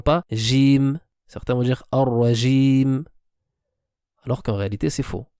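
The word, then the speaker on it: الرجيم: Alors qu'en réalité, il y a un roulement qui doit se faire, un takrar, une répétition de la lettre, mais qui est légère.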